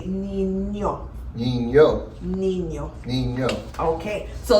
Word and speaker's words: niño: Nino. Well, when there's a tilde on the end, you say niño.